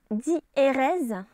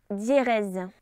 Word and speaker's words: diérèse: d'un groupe de voyenne on prononce d'ailleurs dit erez en dissociant lehoux et le est et non pas d'hier est l inverse donc l'association